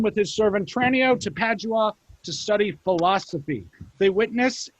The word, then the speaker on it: Padua: Padua.